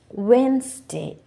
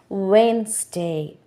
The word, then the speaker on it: Wednesday: Wednesday. இங்கே நீங்கள் வெட்னஸ்டே என்று சொன்னால் that is wrong. Wednesday. Handsome, handsome. Sandwich, sandwich. That is the correct way of pronouncing this word.